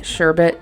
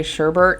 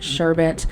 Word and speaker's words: sherbet: portion of the video i'm gonna be saying sherbet because i hear a lot of people say sherbert and i think that some people say that and say that that's the correct way to say it but i have always said sherbet uh sherbert reminds me